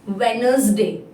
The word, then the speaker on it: Wednesday: Here, letter D is silent. So pronunciation of this word is Wednesday.